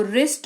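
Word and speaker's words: wrist: rule को follow करेगा जिसके तहत डब्लू का उच्चारण नहीं किया जाएगा इसको रिस्ट रंग राइट ये पढ़ा जाएगा आगे बढ़ेंगे कुछ मिक्स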